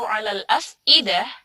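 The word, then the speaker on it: الأفئدة: Nah, itu di situ ada hamzah 'alal af'idah. Nah, biasanya di alal af'idah ini bacanya malah ain, yang harusnya dibacanya hamzah, atau kebalik, alal af'idah yang ain dibaca hamzah, yang hamzah dibaca ain.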